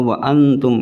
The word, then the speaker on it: أنتم: Ini kalau bisa pas ikhwa yang dengung-dengung ini, contoh wa antum ini ketika dengungnya mau habis, kita mulutnya kalau bisa seperti Arab melepaskan huruf ta. Wa antum jangan dengungnya terus tanya ketika pelafatan tanya itu mendadak. Kalau bisa pas dengung mau makhorijul hurufnya itu sudah membentuk huruf ta.